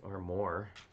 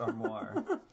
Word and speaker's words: armoire: though it's really not it's 30 years lassic or more or more but yeah it is pronounced armoire what it's pronounced armoire and what is you